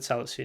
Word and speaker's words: Salisu: That's how you pronounce his name, Mohamed Salisu.